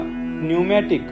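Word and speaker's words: pneumatic: कधी सायलेंट असतात म्हणजे पी या अक्षराने सुरू होणारा न्यूमॅटिक हा शब्द म्हणताना त्याला फक्त न्यूमॅटिक असे म्हणतात वास्तविक पाहता त्याचे spelling P एन यू M eighty I सी असे आहे म्हणजे पी वरून सुरू होते तरीही त्याला फक्त बोलताना आपण न्यूमॅटिक असेच म्हणतो के या अक्षराने सुरू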